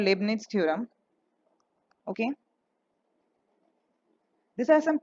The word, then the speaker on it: Leibniz: You can check the pronunciation. This is called Leibniz theorem.